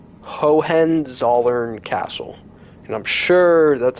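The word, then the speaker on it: Hohenzollern: have no idea but It's H O H E N like Hohen and then Z O L L E R N like Zern. Hohen Zern Castle.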